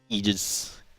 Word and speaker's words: Aegis: you get to the Aegis. Aegis. So I took Latin, okay? Mm-hmm. A-E next to each other is pronounced I.